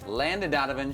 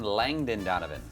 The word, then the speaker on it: Landon Donovan: on the show Wednesday Landon Donovan she called him Langdon Donovan who was it bothered